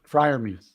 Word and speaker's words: Freiermuth: So Freiermuth, did I say it right? Yeah, Freiermuth.